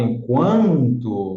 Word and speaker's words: enquanto: Porque o U não é pronunciado na palavra etiqueta, mas na palavra enquanto, você tem aqui um ditongo entre o U e o A, porque ele é pronunciado. O U é pronunciado.